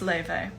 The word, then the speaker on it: Laufey: enjoy it how do you pronounce lev it's pronounced leyvey otherwise i am reading this book sally rooney